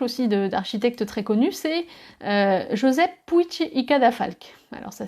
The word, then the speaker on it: Josep Puig i Cadafalch: Un autre exemple aussi d'architecte très connu, c'est Josep Puig i Cadafalch. Alors ça s'écrit Puig i Cadafalch.